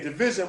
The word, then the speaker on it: DVSN: Division, you said? Yeah, Division, but it's spelled DVSN.